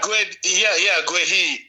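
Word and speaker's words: Guéhi: Guehi. Is it Guehi? I hope I'm pronouncing it well. Yeah, Guehi.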